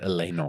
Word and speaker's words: Elanor: Elanor is the name of one of his kids. Elanor. Yeah. But in the circus version, they pronounce it Elenor, which is like a plant, like an elven plant.